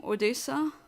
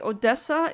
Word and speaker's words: Odesa: are everywhere you're from Odesa Odesa I have to check where that is okay Odessa is that how you pronounce it with two s or Odesa I see both oh